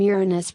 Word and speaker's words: Uranus: pronunciation of the name Uranus referred among astronomers is with stress on the first syllable as in Latin Uranus in contrast to